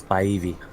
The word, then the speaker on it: Spivey: The name's Spivey. Spivey. The E makes it a long I.